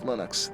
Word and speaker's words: Linux: linus and i really don't care how people pronounce my name but linux is always linux he developed a kernel and